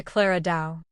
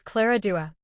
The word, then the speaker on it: Clara Dao: The same logic applies to Clara Dao. Name mispronunciation. Koko occasionally mispronounces Clara Dao's name as Clara Dua.